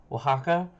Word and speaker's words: Oaxaca: Now, okay, this game here, this moment here, taught me how to say Oaxaca, and I impressed a ton of people. I think I also just butchered it right then and there too, but